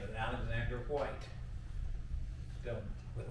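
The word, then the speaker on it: Alexander Whyte: hearts a great preacher by the name of Alexander White still with a Y but pronounced with a nine young preacher came in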